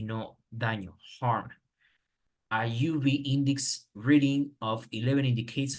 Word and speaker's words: UV: Then the other one, it says a UV. As you can see, we don't say an UV because it's pronounced you, not you, you.